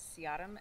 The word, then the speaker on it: Se-ah-dom: My name is Siadam, SE-AH-DOM.